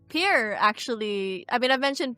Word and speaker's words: Pyrr: Hi, I'm Pyr or Pyr. I don't really care what people, how people say my name.